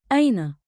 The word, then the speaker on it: أين: Say it slow. Aina. One beat like in with a light catch at the start.